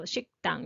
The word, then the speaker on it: 식당: So, even though spelling is single here, you may pronounce it a little stronger. So 식당. That's okay. So 식당 .